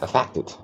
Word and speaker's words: affected: Próxima palavra, affected, olha a ênfase, afetado, ok? Segunda, primeira vogal neutra, segunda vogal curta com ênfase, e a terceira vogal muda, affected.